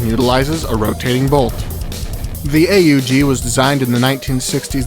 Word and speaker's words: AUG: at sty manle here the name of the weapon is an initialism but is frequently pronounced as though it were an acronym in game the weapon